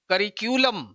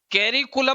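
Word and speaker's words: curriculum: इसका उच्चारण होता है करिक्यूलम, उच्चारण होता है करिक्यूलम, करिक्यूलम, ये उच्चारण है भाई, करिक्यूलम, ये इसका उच्चारण। कैरिकुलम नहीं होता, करिक्यूलम, ये स्ट्रेस आ गया।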